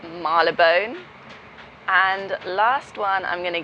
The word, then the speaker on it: Marylebone: Marylebone, which is spelt Marylebone, but that is not how it's said. It's Marylebone.